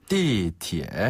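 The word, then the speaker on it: 地铁: 해요 티에네 좋아요 지하철 띠라는 발음은 위 아래로 뚝 떨어지듯이 그다음에 티에는 밑에서 중저음으로 티에 이렇게 하시면 되거든요 띠 티에 그렇죠 한번다 띠 티에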